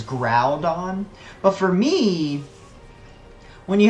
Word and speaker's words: Groudon: ] for it because they like thought that the Groudon pronunciation was like total crap because like he's clearly the argument was like he's clearly a ground Pokemon it is ground on but for me when